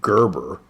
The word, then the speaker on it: Gerber: And I know some of y'all pronounce it Gerber, but I pronounce it Gerber, like the gerbil, you know?